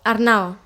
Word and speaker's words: Arnau: Com es pronuncia? Arnau o Arnau? Arnau.